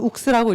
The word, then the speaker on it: ours: 의미도 갖고 있고 또 Ours는 사실 불어로는 욱스라고 읽고 욱스는 곰이란 뜻이거든요.